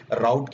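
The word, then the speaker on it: route: कहीं कोई डेवलपर इसे रूट बोलता है, कोई डेवलपर इसे राउट बोलता है, तो वो आपके प्रोनाउंसिएशन के ऊपर है, आप कैसे उसको प्रोनाउंस कर रहे हैं। सो मैं जनरली इसको रूट भी कह देता हूँ, राउट भी कह देता हूँ।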